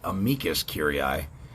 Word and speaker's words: amicus curiae: of the court and i believe it's pronounced amicus curiae or mckenzie friend of the